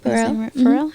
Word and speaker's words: Pharrell: That's how you say his name. Pharrell.